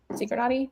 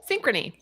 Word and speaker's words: Synchrony: On the right-hand side, that Synchronati, how you say it? Synchrony.